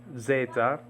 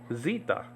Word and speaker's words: Zeta: that does this okay The Zeta a mono Greek is called Zita okay so there's a different pronunciation for the name of the of the letter and um but you